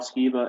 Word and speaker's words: Skiba: I learned a laundry list of things that Rob Skiba, and I think I pronounced his name correctly.